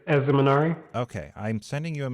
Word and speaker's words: Ezemenari: do you say your first name again it's as the minari okay i'm sending you a message right now